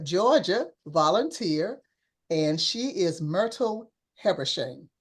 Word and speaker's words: Myrtle Habersham: volunteer, and she is Myrtle Habersham. Am I pronouncing that correct, Myrtle? That is correct.